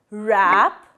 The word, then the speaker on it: wrap: And the next option is we use silent W like right, wrap, wrist and wrong. Here W is silent.